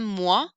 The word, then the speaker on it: mois: Un mois, as is silent.